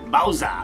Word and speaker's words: Bowser: You don't pronounce the R. Bowser.